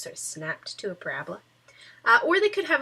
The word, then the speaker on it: parabola: curve is called a parabola parola not a parabola a parabola if you say Parabola you are putting the emphasis on the wrong cabable and that is not a good thing so it is a